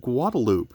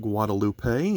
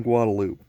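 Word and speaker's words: Guadeloupe: that would be pronounced guadalupe it was discovered by columbus but since it was settled by the french they use a french pronunciation of that word and the middle of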